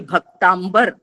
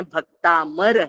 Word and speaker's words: भक्तामर: भी मार अभी भी भक्तांबर भक्तांबर नहीं है भक्तामर है अमर भक्त जो होते हैं वो भक्त अमर करने के लिए आदिनाथ भगवान की स्तुति की जाती है ऐसा उसका उच्चारण है इन सारी बातों का